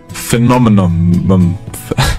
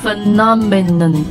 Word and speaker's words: phenomenon: is uh one that I actually struggle with and really really annoys me it's phenomenon phenomenon phenomenon phenomenon phenomenon phenomenon yeah let's we'll spell out for you p h e n o m e n o n so you can see why it's hard to say phenomen phenomenon so can you make